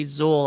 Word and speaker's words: Xul: um uh whenever i whenever i kept hearing them say zul i wanted to go there is no dana only zuul um which only which is so funny because i mean it's spelled a different way it's spelled x-u-l other than the zuul